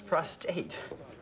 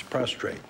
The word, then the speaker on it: prostrate: word all these years i always thought was prostate no it's prostrate and then he goes